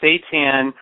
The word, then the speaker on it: seitan: Well, technically, seitan, or seitan, there's so many different ways of pronouncing it, is technically it's the gluten of wheat.